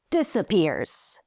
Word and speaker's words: disappears: One word, three syllables, three notes. Disappears. Disappears. This proves my point that in English every syllable has a different note, slightly higher or slightly lower than the previous one.